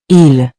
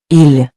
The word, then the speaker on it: ils: Remember, in spoken French, the S is usually silent unless followed by a vowel.